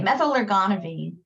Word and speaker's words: methylergonovine: on metal are gone out of it okay methylergonovine when do we not want to give this